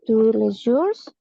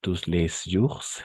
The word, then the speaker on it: tous les jours: Esa es, no se pronuncia y esta tampoco. La es, no tous les jours, no. Les jours solamente. Este se tampoco se escucha. Lisez tous les jours. Hasta la R.